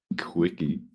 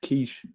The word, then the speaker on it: quiche: Quickie. No, it's quiche.